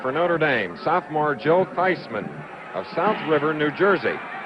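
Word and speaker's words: Theismann: at Notre Dame, says the pronunciation of this sophomore's name is Feisman, like in Heisman.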